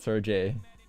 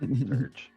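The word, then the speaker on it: Serj: I thought it was Sir J. Surge? Surge. Surge. Let's look that up. Surge tankian. Please. Jay is silent.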